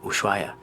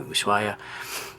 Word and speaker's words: Ushuaia: then we're flying to Ushuaia. And I don't know if it's Ushuaia, like an S, or Ushuaia, because it's spelled with an SH, but I think she said with an S.